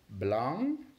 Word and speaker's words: blanc: Followed by the white color, which in French is blanc.